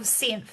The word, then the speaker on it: Psynth: You're the co-founder and CEO of Synth, and I'm going to spell it.